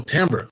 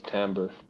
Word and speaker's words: timbre: the the the word is temp timbre oh timber okay yeah uh i think it's t-i-m-d-r-e oh timber yeah but they say timbre it pronounced as timbre okay let's see here timber uh what is